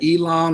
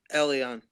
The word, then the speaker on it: Elion: It's either Elon or Elion from New York coming up next on the fan line. You're gonna let me know how I said it right or wrong. I gave my best effort though. I mean, last week you were close. It's Elion. Elion.